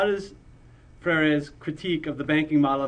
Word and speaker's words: Freire: I mean, how do you pronounce Paulo Freire's name? It's Freire. Freire, okay. The more Spanish inclined you are, I guess the more you're gonna kind of want to pronounce it out.